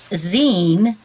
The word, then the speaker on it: zine: little bit about jeans it's taken from the word magazine that's why it's pronounced zine but it's spelled design